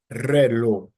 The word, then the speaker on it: reloj: Words ending in any other consonant are stressed on the last syllable. For example, the word reloj, reloj, reloj. So re would be the first syllable and then lo the second syllable.